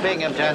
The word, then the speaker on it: Binghamton: That's a Binghamton. There's no P in that. The accent is on the Bing.